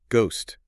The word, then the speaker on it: ghost: That H wasn't originally part of the English spelling at all. Really? No. It was added later um by Flemish printers who were working in England.